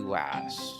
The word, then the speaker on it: Weiss: No other than Miss Weiss.